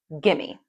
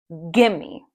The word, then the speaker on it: gimme: When Americans say this quickly, it becomes gimme. Let's practice the pronunciation. The emphasis is on the first part of the word. Gimme.